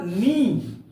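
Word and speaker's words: knee: जैसे देखो बेटा, यहां पर के एन डबल ई, के एन डबल ई, इसका उच्चारण होगा नी। नी, यहां के साइलेंट है।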